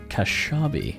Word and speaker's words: Kashabi: Here's one from Kashabi. Okay. I'm really hoping that I pronounced that name correctly.